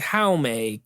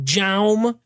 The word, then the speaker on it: Jaume: Now, directed by, his name is Jaume Collet-Serra, but I always used to just call him Jaume because it's spelled with it. I like to say the hard J.